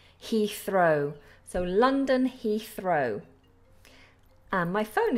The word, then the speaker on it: Heathrow: first one here is London Heath Row Heathrow we have that th there so remember with th's we put our tongue between our teeth Heathrow so London Heathrow my